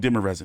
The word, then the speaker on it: Demirezen: We're gonna call him Demirezen because I've been pronouncing his name all fucked up since, God knows how long.